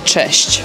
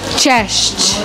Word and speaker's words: cześć: A more casual say, like you would talk to your family or friends, you would also could say cześć. Cześć.